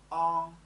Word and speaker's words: ang: On. The pronunciation is from the back of your mouth. On. Like song.